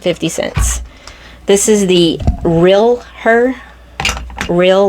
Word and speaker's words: Real Her: cents this is the real her real like a real woman real her it's spelt r-e-a-l like real and then uh er so real her real her real